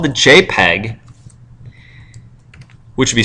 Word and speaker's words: JPEG: It's called the JPEG, which would be spelled like that, but the actual file extension doesn't have the E in there.